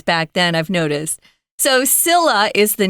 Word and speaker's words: Scylla: Is it Is it Scylla or No, it's Scylla.